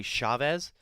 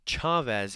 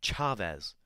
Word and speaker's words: Chavez: like you would say Chavez but it's Chavez and in their pronunciation guide they put in parentheses say it cha like you'd say the Cha-Cha so it's that it's Chavez and she hits a